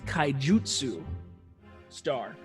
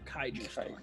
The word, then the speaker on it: Kaijutsu Star: Like I say, it says, I pronounced it wrong. It's Kaijutsu Star, not Kaiju Star.